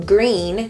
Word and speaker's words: Gruene: so weird if you didn't have the name green the way the town is spelled in green so number two we're talking